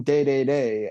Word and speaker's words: Dedede: to smash bros but king dedede is pronounced king day-day-day everywhere else in the world i believe at least